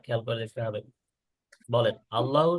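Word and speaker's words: الله: বলেন, আল্লাহ শব্দ পড়ার নিয়ম হচ্ছে দুইটা। কয়টা? বলেন, দুইটা। দুইটা دوتا একটা হলো মোটা উচ্চারণ, বলেন ভারী উচ্চারণ। কি উচ্চারণ? ভারী উচ্চারণ। আরেকটা হলো পাতলা উচ্চারণ। পাতলা উচ্চারণ মানে আমরা নর্মালি যেটা পড়ে আসছি আগে, লাম ফাথা বা লাম লম্বা ফাথা লা, আর কি আগের যেটা ছিল সেটাই থাকবে, এটা হলো পাতলা সাউন্ড।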